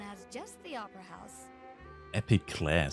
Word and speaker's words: Epiclese: Epiclese, so spricht man das als heftig aus.